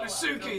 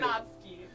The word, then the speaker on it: Natsuki: Oh, thank you, You're so Nasuki. welcome. I appreciate it. Natsuki. Natsuki. Nat. It's 2 syllables, just like your name.